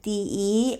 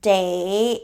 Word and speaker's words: 得: So it's pronounced the, like de, and soft tone is kind of an indicator for complement. Later on, we're gonna more explain that. But when it's pronounced day, it means have to or must.